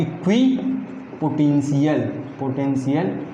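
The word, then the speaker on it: equipotential: तो याद रखना हमेशा ये सही प्रोनाउंसिएशन आपको करना है, इक्वी पोटेंशियल सरफेस, और यही स्पेलिंग भी लिख के आना है।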